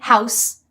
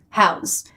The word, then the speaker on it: house: Noun with an S, verb with a Z, house, house.